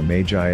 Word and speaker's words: Magi: Bible actually calls them is Meiji or Magi as some people pronounce it and this is